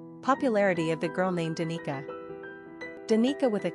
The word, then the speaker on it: Danica: Pronunciation, Danica, English, Dahnetza, Slavic.